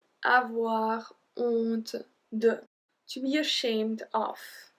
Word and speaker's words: honte: So here we don't pronounce the H. Avoir honte de.